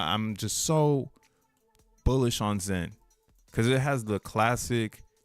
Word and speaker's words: XEN: They already thought it was cool because it's Zen with an X. Like, oh, this is Zen. Zen. I like when people spell it out. XEN, like they can't put like their mind isn't programmed to say Z when they see X.